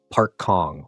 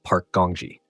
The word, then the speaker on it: Park Gongji: Some mispronounced it, calling him Park Kong or something similar, but another corrected them, saying it was Park Gongji.